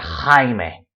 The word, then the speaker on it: Jaime: A Spaniard pronouncing this letter will say Jaime, justo, dibujar. It's a very rough, throaty noise.